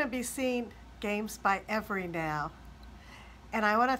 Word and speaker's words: Everi: Everi, did I pronounce it right? Yeah, that's right. It's Everi.